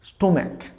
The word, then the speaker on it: stomach: অনেকে স্টোম্যাক। আমরা এটাকে স্টোম্যাক উচ্চারণ করি, পাকস্থলী না, উচ্চারণটা স্টোম্যাক নয়, উচ্চারণটা হবে স্টাম্যাক, নট জাস্ট স্টোম্যাক, স্টাম্যাক।